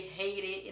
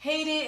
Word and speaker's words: Haiti: Yeah, Haiti is in Portuguese, but we say Haiti in English. Haiti is a Caribbean country in North America, and most people pronounce it wrong.